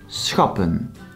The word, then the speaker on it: schappen: Then schappen consists out of two syllables, schap, pun. Here the syllable does end with a consonant and not a vowel, so it's pronounced short.